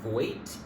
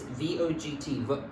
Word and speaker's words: Vogt: By Janet, I think it's Voigt. It's V-O-G-T, Vogt, or Voigt, I guess. I guess the G is silent.